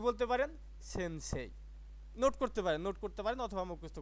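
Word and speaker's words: せんせい: এখন সব মিলে দেখেন তো এটার উচ্চারণটা কি হয়েছে? ছয়কাশে নসেন, ছয়কাশে রস্যই, সেন্সেই।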